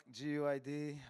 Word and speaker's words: GUID: And uh does anybody know how to pronounce it like the properly? because I could not find any like person in English speaker trying to pronounce Gwid. Yeah, but it's you know like Gid I prefer GID. So okay. Okay, let's stick with Gwid.